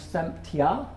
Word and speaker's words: themptya: Semtje, to tempt, becomes semtja, and it rhymes with the stressed word tra.